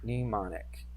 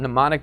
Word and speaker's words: mnemonic: Mnemonic actually starts with an M. What does that mean? Oh, did I spell it wrong? Yeah, that's it. Mnemonic.